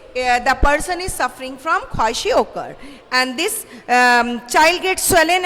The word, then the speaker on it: kwashiorkor: Okay, or you can say kwashiorkor. So the second disease, the name of the second disease is kwashiorkor. So you can pronounce it kwashiorkor.